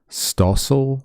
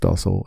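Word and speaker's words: Stossel: His name is John Stoil, I got to say. and um oh yeah pronounced dosel anyway he's I don't know he's just like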